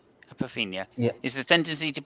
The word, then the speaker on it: apophenia: Okay, if I can just get in the meaning of how do you pronounce that word again? Apophenia. Apophenia. Apophenia Yeah.